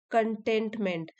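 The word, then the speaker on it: contentment: कंटेंटमेंट, इसको pronounce करना है कंटेंटमेंट। एक होता है कंटेंट, मतलब कि कंटेंट of this book. Spelling तो सेम ही है, प्रोनाउंस अलग करते हैं।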